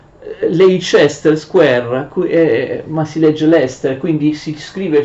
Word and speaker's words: Leicester: anno fa in Inghilterra, si scrive Leicester, però si legge Leicester.